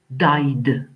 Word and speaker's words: died: Et quand le son de la finale de la base verbale est I, ça peut arriver, bah, die, alors le ED se prononce de, ce qui va nous faire died.